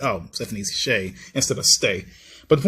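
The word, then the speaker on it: Sheh: Still don't know how to pronounce her last name. I think it's Shay. I call her Shay. I've been calling her Shay for years. I thought her name was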